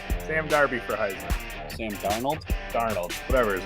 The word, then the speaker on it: Darnold: Darby. Yeah, say my name right if I come on this fucking show, dude. I said Sam Darby. Sam Darby for Heisman. Sam Darnold?